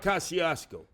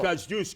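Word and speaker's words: Kościuszko: Kazus and it's not Kasiasco. It's Kazus. Can you say it right?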